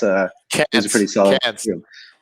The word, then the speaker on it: Cairns: I'm not sure if I'm pronouncing Cairns right, but that's it was a pretty solid. Cans, like be a can, and then you add a plural, cans. Melbourne and Cairns. Yeah, Cairns.